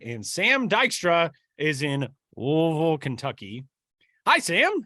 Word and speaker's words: Louisville: So, I'm losing the E in Louisville, Louisville.